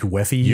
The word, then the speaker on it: UEFI: I don't have a good pronunciation for UEFI, which I think is a little too wordy to say by letter, but I hear people say like Weffy and stuff.